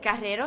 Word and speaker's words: Carrero: Carrero, sí.